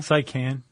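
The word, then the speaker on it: Seikan: How do you pronounce that? The Saikan Tunnel? The Saikan Tunnel? Saikan.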